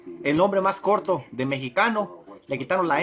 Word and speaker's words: mexicano: Entonces ellos, para hacer el nombre más corto de mexicano, le quitaron la M y la E y se identificaron con la palabra chicano. Porque la X en idioma náhuatl se pronuncia sh, S, H.